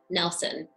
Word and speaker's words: Nilsson: It's pronounced Nilsson. I'm here to set the record straight. It's not Nilsson or Nielsen, because it's Nilsson, because that's how her father pronounced it.